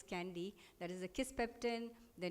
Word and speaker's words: KNDY: One is the thermoregulatory center, one is the neuronal center which is called the candy hormones that we call, that is the KNDY, pronounced as candy, that is the kisspeptin, the neurokinin B, and the dynorphin.